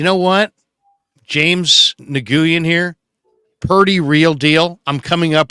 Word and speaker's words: Purdy: Well, that Purdy rhymes with turdy.